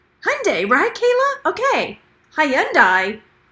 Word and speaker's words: Hyundai: curtains and don't enter but Hyundai rhymes with Sunday exactly broken reseller right